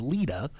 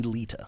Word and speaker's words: Leta: So you're Southern, so there's a D in there in the South. Right. That's the Southern pronunciation is Leta, but it is actually Leta.